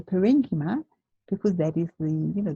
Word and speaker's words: parenchyma: or parenchyma potato patata okay so I say parenchyma because babies leave you know the pronunciation the green is when a study button